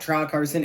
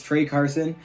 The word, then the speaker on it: Trey Carson: Okay, it's not Tra Carson, it's Trey Carson.